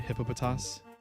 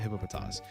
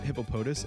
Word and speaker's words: Hippopotas: Hippopotas cuz I think it's the official way. Yeah, in the anime they call it Hippopotas but I hear people call it Hippopotus and it pisses me off.